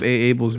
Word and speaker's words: Aable: like, oh, I love Aable's music. And so it prompted me in my Instagram to put in quotation, in parentheses, how you say it. It's just Aable. It's like Hey Arnold, but hey Yo.